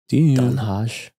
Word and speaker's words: Den Haag: There's a place called, it's spelled D-E-N. H-A-A-G. Dunhaj.